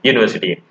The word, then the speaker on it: university: Yes, you can see European, or yes, this word university. This word starts with U. U is a vowel, but the pronunciation is not vowel.